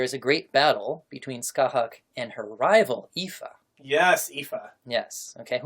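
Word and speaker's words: Scáthach: And how do you pronounce her name? Skahak.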